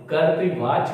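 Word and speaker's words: कर्तृवाच्य: है तो उसे हम कर्तृवाच कहेंगे। ध्यान दीजिए, कर्तृ का उच्चारण सही कीजिएगा। र यहां आधार है यानी रेफ है और यहां पे लिखी मात्रा, तो कर्तृवाच।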